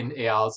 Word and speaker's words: Eyal: Everyone says Eel. It's really not, so, oh well.